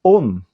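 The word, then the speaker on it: ὤν: Esa palabra se pronuncia on.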